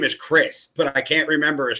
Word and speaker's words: Criss: His last name is spelled Criss. That's definitely Chris in my eyes.